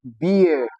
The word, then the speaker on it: beer: It has double E. But does it have the long e sound? No, it doesn't. Yes, in the word beer, which is transcribed as beer.